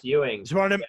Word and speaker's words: Ewing: down with director ewing ewing correct yes ewing wanted to make sure it wasn't some like